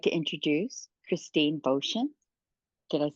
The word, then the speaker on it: Boschen: like to introduce Christine ban did I say that right you did rhymes with ocean okay ocean right thank